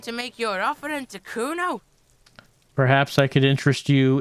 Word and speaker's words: Kuno: And you fucking asked me to nick it, Kuno. No, I didn't. It's fucking Kuno. Say it right, bitch. Say it like it's said. Kuno. That's an Oranese name.